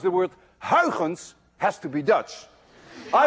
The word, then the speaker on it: Huygens: You see, this sound, UY, is pronounced in Dutch as ui. None of you can say ui unless you're Dutch.